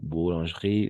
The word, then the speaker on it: boulangerie: Effectivement, on n'entend pas ce E, n'est-ce pas? Boulangerie, c'est ça, parfait, bravo.